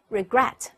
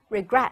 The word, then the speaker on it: regret: 就错了，它的重音并不在第一个音节，而在后一个音节，所以我们通常读成 regret regret。